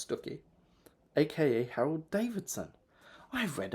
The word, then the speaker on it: Stiffkey: The Rector of Stucky, written Stiffkey, pronounced Stucky, aka Harold Davidson.